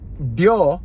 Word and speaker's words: Ryo: And Ryo is one of the most difficult words to pronounce. So, let's say this is tongue. And L, your tongue goes like this. D, Ryo, Ryo, R.